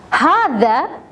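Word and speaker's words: هذا: for masculine and feminine how to say this harder is for masculine Hardy is for feminine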